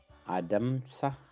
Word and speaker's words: adamsa: Adamsa. Ma is the ma sound is silent or semi-silent, so we don't need I over there. Adamsa.